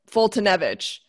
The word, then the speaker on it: Foltynewicz: i were talking about before your last name fultonevich yeah it's large to get it right yeah